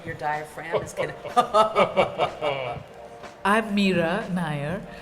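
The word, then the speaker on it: Mira Nair: diaphragm is anything I've Mira Nayar rhymes with fire so what does this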